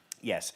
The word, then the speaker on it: Ye: Oh, it's pronounced Ye, is it?